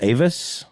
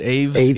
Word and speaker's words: Aves: How do you say it? Aves. There you go. That makes sense. Like It's bird.